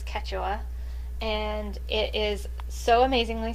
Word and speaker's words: Quechua: So if you're wondering how to pronounce it, it's Quechua, and it is so amazingly soft.